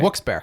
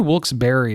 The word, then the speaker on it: Wilkes-Barre: Beaver Meadows, kind of like Wilkes-barre. Yeah, Wilkes-barre, Wilkes-barre. I heard Wilkes-barre is actually the correct way to say it. It is. Is it? Wilkes-barre. And the E used to have an accent over it.